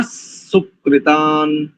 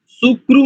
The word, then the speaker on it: सुकृतानि: की दृष्टि से शन्न सुकृतान, शन्न सुकृतान, सुकृतानि, सुक्रु नहीं करेंगे, है ना।